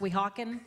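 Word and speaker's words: Weehawken: I just loved finally figuring out how to pronounce We Hawken.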